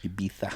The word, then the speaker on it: Ibiza: But our friends were just back from Ibiza. Is that how you say it? That is how you say it. Oh my gosh. Ibiza.